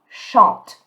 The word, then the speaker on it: chante: So remember, you're not going to pronounce the E, but you're going to pronounce the T. Je chante.